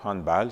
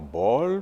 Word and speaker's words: handball: a par exemple le handball j'ai bien dit bal et non ball parce que c'est d'origine allemande ou le a se pr prononce a bien sûr il y